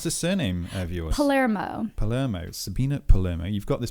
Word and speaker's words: Palermo: Sabina, how do you pronounce the surname of yours? Palermo.